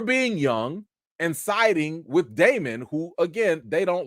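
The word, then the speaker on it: Daemon: made hella shots at Damon he was like listen we gonna do this oath even though some people aren't worthy of it even though some people name that name Rhymes rhymes with Raymond we don't like my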